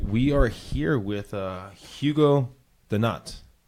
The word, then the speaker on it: Denat: SD all right we are here with Hugo the nut like doughnut doughnut like a doughnut like it's pronounced like a little bit differently doughnut so